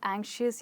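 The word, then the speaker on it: anxious: है हमारा last word एंसिस यानी बहुत डरना किसी चीज के बारे में परेशान होना ओके और इसमें हमारा स्ट्रेस है ए पे हम इसको बना सकते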